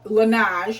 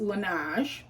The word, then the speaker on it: Laneige: the expensive side is this cream that's called Laneige, is how you pronounce it. It's spelled Laneige, but it's pronounced Laneige.